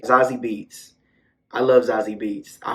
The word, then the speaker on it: Zazie Beetz: First of all, Amber is played by Zazie Bates. That's not how you say her name. Zazie Beetz.